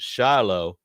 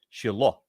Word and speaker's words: Shiloh: Okay, so Americans pronounce it Shiloh, but Tomer, I think, pronounce it Shiloh.